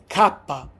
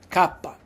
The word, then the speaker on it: kappa: The next one is kapa. Kapa. That's how we pronounce kapa. Like kimono. We say for example kappa.